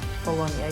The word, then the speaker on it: Bologna: for bolog bolognia yes said bologna bologna yeah because it's literally written like that but as I remember that in the case of the Latin the G is not yes they are not pronouncing literally I do believe that